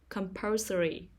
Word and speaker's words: compulsory: syllable poem life life compulsory compulsory the stress is on the second syllable compulsory emotional emotional the stress